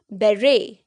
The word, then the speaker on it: beret: This is बेरे, बेरे।